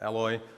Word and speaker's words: Eloy: I am Eloy, at Eloy, because that's my preferred pronunciation in English.